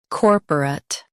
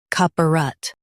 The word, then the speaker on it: corporate: In U.S., stress core. In UK, stress caw. Keep perut soft.